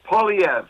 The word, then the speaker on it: Poilievre: It's Poilievre.